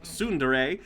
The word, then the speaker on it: tsundere: 2 it's amusing yeah it's funny uh tsundere pronounced tsundere is a japanese term for a character development